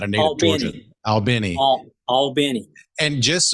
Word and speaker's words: Albany: Albany. And just it's spelled Albany like Albany, New York, but it's as Jeff is saying it, which I don't know.